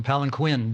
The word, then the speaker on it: palanquin: It's called palanquin, and you don't say, Prabhupada called them palanquin, but the actual pronunciation is palanquin.